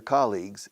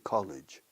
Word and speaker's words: colleague: Esta palabra se mal pronuncia muchísimo aquí en España. Muchísimo. Mucha gente profesional dice college. College es universidad. Colleague. 1 colleague, 2 colleagues. Casi piensa en cólico de riñón. Cólico, colleagues.